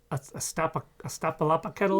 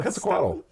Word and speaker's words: Quetzalcoatl: There's Astapalapaketl. No, Quetzalcoatl. Oh, Quetzalcoatl. Quetzalcoatl. Yes. That's why you need Dave. Easy to pronounce that.